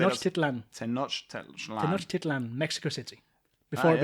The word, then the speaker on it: Tenochtitlan: Tenochtitlan.